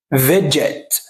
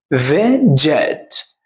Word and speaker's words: veg out: لما بيجوا ينطقوها بيعتبروها كلمة واحدة، فبنقول ايه؟ فيجت. فيجت. فيجت.